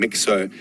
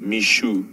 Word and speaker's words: Mixo: kul's uh Offspring and we were calling him mixo apparently our pronunciation is incorrect even though it is spelled Mi EXO it is pronounced Mishu I can have a look at this and